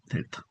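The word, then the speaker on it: δέλτα: 델타 영어 이제 영어로 D 발음이죠. 델타포스 할 때 델타.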